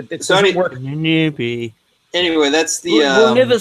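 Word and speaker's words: Ahnenerbe: That's it's Ananerbe. Ananerbe. That's I've been saying it wrong, and I apologize to the fucking Spurgs, the fucking chat who don't fucking listen. That's how I say it. It's Ananerbe, okay? That's how it's said.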